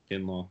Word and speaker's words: Kinlaw: man from South Carolina, I think it's Javon Kinlaw, is how you pronounce his name? Kinlaw.